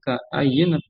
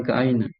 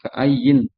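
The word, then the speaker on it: كأيّن: kita artikan dulu yaitu objeknya berupa kam atau kaayin ya itu dibacanya ka aayyin kaayin kaayin min qorah ke aayin ya bukan keainan dibacanya kaayin fakaayin gitu ya min qatin ahlaknaha ini terdapat di surah ee Al-Haj ayat 45.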